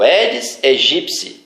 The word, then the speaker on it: Aedes aegypti: É o Aedes aegypti. E eles pronunciam Aedes aegypti, Aedes aegypti, de toda forma, mas nunca a forma correta. Aedes aegypti. O piti, lá da espécie, tem som de psi.